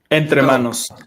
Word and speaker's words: Entremanos: I'll let you pronounce the name of the brand because I know I'll butcher it up. Oh, Entremanos.